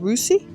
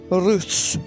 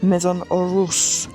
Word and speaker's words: Maison Russe: How do you pronounce it? Russi? Russe. Maison Russe. French pronunciation on top form there.